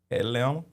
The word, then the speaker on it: Atlanta: With no tea. Yeah, I know the tea is silent. Yeah. Yeah. The tea don't even exist.